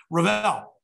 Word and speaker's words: Revell: pronouncing it correctly, Keith Revell. And I look at it and pronounce it like that because it was spelled just like the, remember the old Revell models when we were growing up?